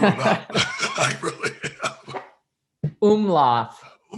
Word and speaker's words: Umlauf: Umlauf. Umlauf. And I was pronouncing that this morning and I had it right, but it's really interesting.